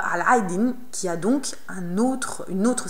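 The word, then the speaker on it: علاء الدين: Et si vous êtes lancé, Allez essayer de découvrir aussi la signification de Aladdin, qui se prononce en arabe Al-Aydin, qui a donc une autre signification cachée, sous son nom lui aussi.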